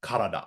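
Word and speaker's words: 体: body should be pronounced kada but I noticed in a lot of the exercises in Duolingo that it's mispronounced as typ which is how it's pronounced in kanji compounds not when on its own to be fair such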